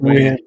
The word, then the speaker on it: Nguyen: Is it like Nguyen? It's Nguyen in Jewin. Believe it or not, I think you pronounced that win. Don't call me crazy. In Jewin. It's pronounced win.